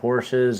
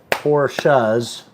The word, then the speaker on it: Porsches: They did one about Porsches and, excuse me, Porsches, 2 syllables.